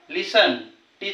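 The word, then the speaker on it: listen: त्याचा उच्चार होत नाही बघा लिसनटी चा उच्चार होत नाही ऑफन लिसन म्हणजे या ठिकाणी चा उच्चार होत होत नाही टी सायलेंट आहे माहिती पाहू यु जर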